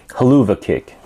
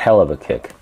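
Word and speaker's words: Helluva Kick: 212 pounds finishers the haluva kick at least that's how they pronounce it not hell of a kick the career highlights is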